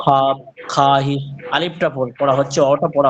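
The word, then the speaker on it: خواہش: খাহিস না এটা, যে খাহিস বললে বলবে। এটা খাহিস বলবেন, মানে আলিফটা এখানে উচ্চারণ হবে না, হ্যাঁ।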